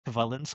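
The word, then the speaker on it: Świątek: But it's Sh- Swiatek. Who I think Swiatek. It's Swiatek. Swiatek. I thought it was a V. Swiatek.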